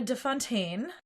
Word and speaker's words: de Fontaine: He says, Miss Fontaine, and she goes, no, excuse me, it's Miss de Fontaine.